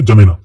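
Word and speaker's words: N'Djamena: देश जिसकी राजधानी है जमेना इसको हम कैसे प्रोनाउंस करेंगे जमेना और यहां पर इजिप्ट देश के नीचे यहां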